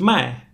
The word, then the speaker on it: 麦: So, lai and mai, they sound kind of similar, but a few thousand years ago in ancient Chinese, they sounded pretty much the same.